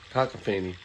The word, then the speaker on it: cacophony: It's pronounced cacophane. Okay. Cacophany.